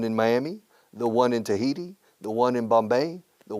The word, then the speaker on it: Tahiti: Tahiti. 3 syllables. In Spanish, Tahiti.